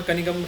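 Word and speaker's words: Cunningham: तो देखिए, आपके ऑप्शन है ये कर्नल री बिगने, जनरल कनिगम, जनरल चुनिगम ऐसे इनको बोलते हैं, और सन हेनरी डेविसिस। तो आई मेक अ पार्ट इनकी सही प्रोनाउंसिएशन जो है जनरल कनिगम रहेगी।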